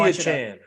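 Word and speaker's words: Achane: Where it came out, they were like, call me Achan. Yeah. Because I'm glad because I didn't know how to pronounce his last name.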